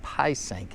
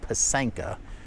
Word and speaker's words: pysanka: So it's not Pysanka, it's Pysanka, which is a Ukrainian word for Easter egg.